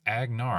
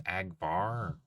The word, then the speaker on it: Agnar: Agnar or A. No, I kept I keep saying it wrong. It's Agnar. I kept thinking it was Abar.